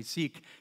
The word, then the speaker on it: Sikh: Then there's the mother of the founder of the Sikh religion. Some people say Sikh. It's actually pronounced Sikh.